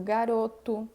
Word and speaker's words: garoto: A letra O vai ser pronunciada como um U no final das palavras quando ele não for átono, tenha S ou não, tá? Então, escrevo garoto e eu digo garoto, coco, menino, aluno, carro, cachorro, banco, ok?